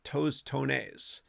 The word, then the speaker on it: tostones: saying Chris have you ever had tossed tones pronounced tostones I've not you're saying I only cook them